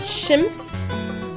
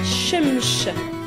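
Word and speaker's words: شمس: Le soleil, on dit shems, shems ou bien shemsh, shemsh. Donc certains disent shems, ça c'est vraiment lié à l'arabe, et d'autres prononcent shemsh.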